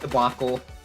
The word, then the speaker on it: debacle: the moment but it's it's pronounced debacle debacle okay debac I I